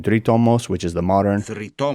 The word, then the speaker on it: Δρυτόμος: They're definitely pronouncing it in a modern Greek way because the ancient Greek is taught with the U shape, sounding like a U, so it would be dritomos. But they're saying dritomos, which is the modern.